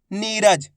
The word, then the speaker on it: नीरज: नीरज। नीरज शब्द को पहले तो आप सुनो किस तरीके से इसका उच्चारण हो रहा है।